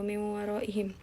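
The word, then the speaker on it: مِنْ وَرَائِهِمْ: Ini dibacanya adalah kita meleburkan nun mati sama wawunya kan, jadi kayak dilebur, nunnya tuh dilebur ke wawu jadi miu. Nah ini ada gunnahnya, gunnah itu berarti dua ketukan, miu waroihim gitu, bukan miwaro, bukan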